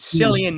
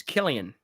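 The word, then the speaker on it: Cillian: Because I said Sillian Murphy. Yes. Yeah. And you were saying it's not C, it's a K. So it's Killian.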